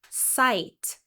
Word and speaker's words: site: If we add a silent E, then we know to pronounce this vowel with a long sound. I, site, like a website.